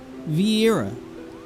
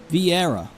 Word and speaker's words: Viera: A Viera! proud daughter of Dalmasca and general of Lente's Tears. And yes, Moogle, I am a Vera. A V-era? V-era? V-era? V-era? V-era? V-era? V-era? Viera.